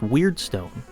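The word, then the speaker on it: Wyrdstone: Damned in order to grab word Stone which is apparently pronounced weird Stone but that sounds kind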